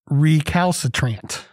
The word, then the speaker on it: recalcitrant: of the day is recalcitrant four syllables it is an adjective